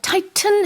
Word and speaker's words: tighten: 여기서 tighten 해도 되지만 이렇게 북미식으로 가운데 T는 좀 잘 안 들리게 Yeah. tighten 이렇게 영국에서도 그러네요.